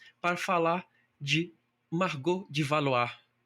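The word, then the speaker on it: Valois: falar de Margot de Valoá. valoar a pronúncia a francesada que nós aprendemos na faculdade, mas temos chamar de Margot de Valô ou Valóis, como preferirem.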